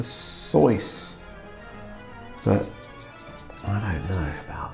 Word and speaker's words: Seuss: His name actually rhymes with sauce, so it's Dr Seuss.